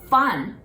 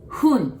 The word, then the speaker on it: 分: Not fun, 分, just like blowing the candle, 分.